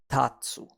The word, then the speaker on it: 立つ: Now, it's pronounced as tatsu, and you can remember it like this. Let's stand up and dance.